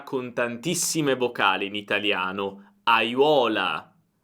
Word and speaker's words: aiuola: Oppure vediamo una parola con tantissime vocali in italiano: aiuola, aiuola. Cerca di pronunciare ogni vocale, è fondamentale.